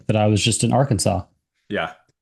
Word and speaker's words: Arkansas: Um well I was just in uh Arkansas doing some doing some kayaking or our Kansas. Yeah. I know there are some listeners that for some reason pronounce it R Kansas.